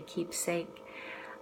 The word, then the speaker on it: keepsake: And I want to make sure I pronounce the difference here. Keepsake, Keepsake, is it's something precious. It's something very dear to you. And then keep safe is actually just the verb keep and then safe.